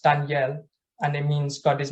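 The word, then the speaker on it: דניאל: carefully to me so in Hebrew it's pronounced Danielle and it means God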